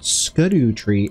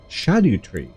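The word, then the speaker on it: Scadutree: other day that um it's not SCU tree it's shadu tree and I was like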